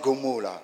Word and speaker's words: G'molah: Ça s'écrit G''M''O''L''A. Mais on prononce Gomola. Enfin, moi, je prononce Gomola.